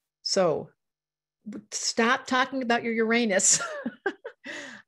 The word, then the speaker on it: Uranus: stop talking about your uranus i pronounce it yaranas i know you're honest you're honest robert that's probably a better way to say it so before we go